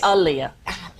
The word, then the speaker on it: Aaliyah: for yourself Aaliyah yeah I say alia Alia like Muhammad Ali now if you know